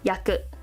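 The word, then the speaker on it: 訳: feet kind of radical, and that becomes translation, yaku. And it can also mean reason, meaning, or circumstance, when it's pronounced as wake.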